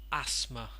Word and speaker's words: asthma: now in this one we're not going to pronounce the th in it it becomes asthma asthma asthma this this